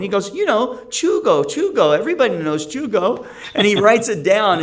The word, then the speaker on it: Tycho: Everybody knows Chugo. And he writes it down. It's Tycho. So it is Danish. And that's how you pronounce Tycho, Tico, Chugo.